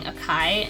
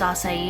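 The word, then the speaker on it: açaí: And for the longest time I was saying acai, and then my sister pointed out that it was acai, and I felt like an idiot because I was saying it wrong for so long.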